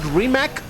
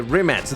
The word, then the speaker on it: Rimac: Because in case you don't know, this car originally was called the Remat C2. And by the way, I'm saying Remat, not Remac, not Ryback. The pronunciation in Croatian, it's Remat.